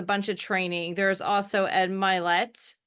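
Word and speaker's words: Ed Mylett: um there's a bunch of training there's also Ed milet is how you say his name um is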